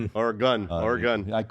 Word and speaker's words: Oregon: Or a gun. Or a gun.